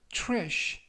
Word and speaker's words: trash: 이때 tr 발음이 true, true. 그래서 trash 라고 발음하시면 좋겠습니다.